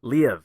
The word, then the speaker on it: Liev: I think it went Lou Schreiber. Is that what you said? Lou Schreiber? No. Liev. Yeah, Liev Schreiber.